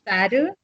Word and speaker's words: statue: You remember with the tu, with the chu. Mm-hmm. I think it sounds. You can say it that way, like a statue, like statue, Yeah, Statue.